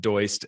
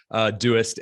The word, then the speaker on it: Doist: I'm the head of remote at Doist, which is often pronounced Doist, and there is no shame in saying Doist, but we are Doist and the creators of Todoist and Twist, which were already introduced.